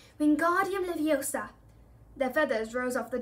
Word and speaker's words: Wingardium Leviosa: "You're saying it wrong," Harry heard Hermione snap. "It's Wingardium Leviosa. Make the gar nice and long."